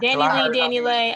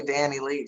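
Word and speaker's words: DaniLeigh: it is Danny Lay. You gotta pronounce it the white Latino way. Lay. Danny Lay. She's still gonna be Danny Lee shit.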